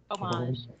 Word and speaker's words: homage: fine i'll lead to homage homage o-m-a-g-e homage because you don't pronounce the age because french yeah because french i mean each language